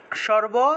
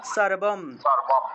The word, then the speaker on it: সর্বং: তাহলে সর্বম, উচ্চারণটা হবে সর্বম, ঠিক আছে। আমরা তো বাংলায় বলে সর্বং বলে ফেলি, বাংলায় বললে সর্বং বলে ফেলি, এটা সর্বং হবে না, এটা হবে সর্বম, অর্থাৎ অনুস্বারটা কোনো একটা